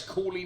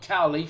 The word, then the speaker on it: Cawley: Cawley, not Cowley, for the pronunciation police out there.